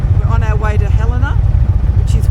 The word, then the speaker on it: Helena: Well, I've been saying Helena all this time, but it's Helena.